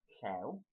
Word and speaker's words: Llew: So the first part is Llew, LLEW, which is actually the Welsh word lion as well, so if you know that, if you can learn that.